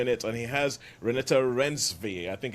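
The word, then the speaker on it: Renate Reinsve: has Chiwetel Ejiofor in it, and he has Renata Rensve, I think it's the way you pronounce the name, from The Worst Person in the World.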